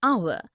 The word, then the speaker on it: hour: ink pad also an heir an honest an hour because the words air honest an hour begin